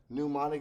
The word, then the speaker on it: mnemonic: know how to spell mnemonic is actually spelled with a m just like the word knife starts with a k but it sounds like it starts with n same concept here a pneumatic device is